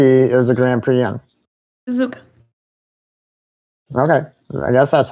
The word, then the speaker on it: Suzuka: Suzuka. Okay. I guess that's how you pronounce it. How do you say it again? Suzuka.